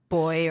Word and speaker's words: buoy: ocean and you know there's a boy or a buoy or however you want to pronounce it and you you know